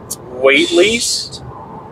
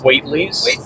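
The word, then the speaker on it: Waithley's: Maybe spell it. W-A-I-T-H-L-E-Y-S. Waitley's? Waitley's? I guess.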